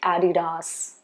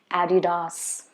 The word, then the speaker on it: Adidas: And it's supposed to be Adidas. Okay, Adidas.